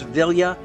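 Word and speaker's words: Vilya: that ring I know I've been mispronouncing it I've been throwing an end in there but it is villa which also allows him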